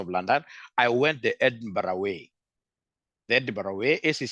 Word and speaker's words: Edinburgh: to the University of London I went the Edinburgh way the Edinburgh way ACC has also made arrangements with Edinburgh it's pronounced as Edinburg I would rather written as